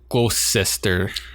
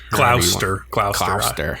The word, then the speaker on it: Gloucester: And then they finally get their next orders, and they have to board the HMS Gloucester. Gloucester. Well, that's how they say it in Massachusetts anyway, so I don't know.